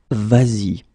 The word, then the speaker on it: vas-y: And then if you want to combine it with the pronoun I or Y here, then it will become vas-y.